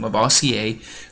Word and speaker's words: Lavoisier: Antoine Lavoisier, so he's French, that's how you pronounce his name, Lavoisier, grouped the known elements into categories that he called metals, non-metals, gases, and earths.